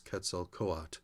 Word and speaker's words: Quetzalcoatl: And Quetzalcoatl, I believe the best pronunciation from what I've seen is Quetzalcoatl.